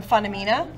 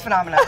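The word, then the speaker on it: Funomena: We just recently rebranded from Funamina. And Phenomena. I just want to let you all know that we've decided to pronounce our own name correctly as Phenomena.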